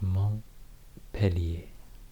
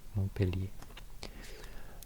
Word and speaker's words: Montpellier: In my drawing map of France video, I pronounced this totally wrong. But it's Montpellier. Montpellier.